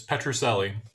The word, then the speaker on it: Petrucelli: of hopefully we would gonna listen to dr petrussily am i saying it correctly or i'm butchering your name you're muted sorry sorry i said you're very close actually it's petrucelli patracelli thank you um and you know he'll